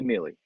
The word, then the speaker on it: Mili: everyone like my friends my friends call me millie it's like millie vanilli except the real mccoy